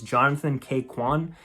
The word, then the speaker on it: Ke Huy Quan: And I don't want to mispronounce his name, but I believe it's Jonathan K. Quan is the actor, and I loved him.